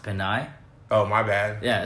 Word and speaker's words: Pinay: I think it's ironic that that's like your friend, but that her whole screen name, K20, that last word is actually pronounced Pinay.